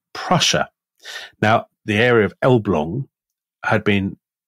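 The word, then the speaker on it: Elbląg: with rural canals yes so this is the elblong canal um it's spelled l-blag but it's pronounced elblong so my uh polish contacts tell me um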